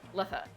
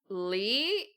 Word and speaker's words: Lethe: It's kind of like, do I pronounce the E at the end? Because it's Letha, I think.